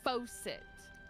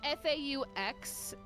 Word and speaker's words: Fauxcet: That's FAUXCET, not FAUCET. The Yeah. X is very important. The X is silent, but also important. The X is the most important. Anyway, how do I keep going?